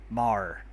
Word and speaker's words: Maher: Mar, I believe that's pronounced.